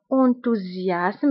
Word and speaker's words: enthousiasme: فبالنسبة للانتوزياسم، فاس الاولى كنطقوها بزد انتوزياسم لانها جات انتر دو فوايي اللي هما او و اي، دونك كنقولو انتوزياسم. و اس الثانيه كنطقوها باس انتوزياسم.